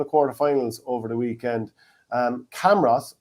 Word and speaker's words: Camross: Camross, or as I heard a Laois local a few times recently, who'd be in my extended friend group, refer to him as Cumross. Cumross. Is this how people pronounce it down in Laois? I see it and I say Camross.